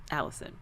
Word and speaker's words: Allycin: But my name is spelled wacky. ALLYCIN. Allison.